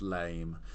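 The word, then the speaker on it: lamé: on actually it's um this gold Lemay pronounced lame uh pleated almost chiffon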